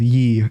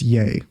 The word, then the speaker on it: Ye: It's pronounced Ye because it's the Ye in Kanye.